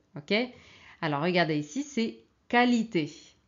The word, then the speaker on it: qualité: fait beaucoup d'étrangers euh qui ont tendance à prononcer qu quii ok alors regardez ici c'est qualité qualité quitter quitter qualifier qualifier ce n'est pas qualifier